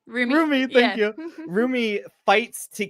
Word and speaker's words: Rumi: that he like everything in his past, while Rimi, oh my god, how do you say her name? Rumi, thank you.